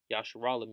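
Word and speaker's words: ישראל: Yasharallah means he prints power, all right? And that's the proper way to say Israel.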